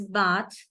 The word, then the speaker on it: bath: So it is bath, but if it is not at the end, then it becomes voiced. So it is bathe.